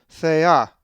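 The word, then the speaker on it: θεά: A Greek word that has the lowercase theta is thea, thea, which means a goddess and is number 2299. The accent is over the alpha, thea.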